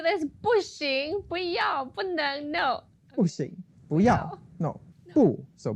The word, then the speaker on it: 不: So there are 2 different ways to pronounce the word 不. Now in the dictionary, it's always going to be the pinyin 4th tone, 不. But then in the variation, it becomes 不, which is 2nd tone.